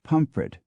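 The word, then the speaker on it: Pontefract: Mobility among the British pontif in West Yorkshire was once pronounced pum but now it is always pronounced as spelled the same Fate has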